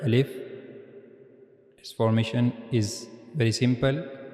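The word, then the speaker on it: ا: First we read about al if that we have to pronounce al if from the empty space of our mouth.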